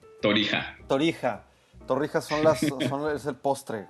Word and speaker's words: Torija: Estoy con Sergio Flores Torija, así se pronuncia, Torija. Torija.